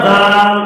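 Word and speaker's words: ذ: বলে দিয়েছিলাম প্রিয় দর্শক একবারে দেখেন এটা হল জাল উপরে এক ফোটা বা এক নুক্তাওয়ালা জাল পাতলা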